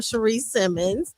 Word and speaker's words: Cherie Simmons: And I don't want to get her name wrong either because it's spelled one way but pronounced another. Go ahead. Your mic is on. Hi, everyone. I'm Cherie Simmons, the author of the